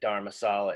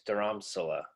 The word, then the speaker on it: Dharamsala: Okay, so so I mispronounced it. I up. said Dharmasala. It's Dharamsala. Dharamsal.